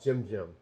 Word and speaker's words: GymJimm: It's called Jim. So it's spelled GYMJIMM, and Instagram is JimJim387.